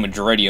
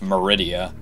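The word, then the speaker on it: Maridia: and the other episodes I kept saying majority but it's actually just Meridia I really don't know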